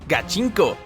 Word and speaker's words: gachinko: Su nombre proviene de la expresión gatinko, que se pronuncia gachinko y que significa ir con todo o ponerse serios.